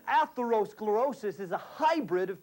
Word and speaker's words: atherosclerosis: Atherosclerosis. That's right, 6 syllables, a humongous word with titanic importance.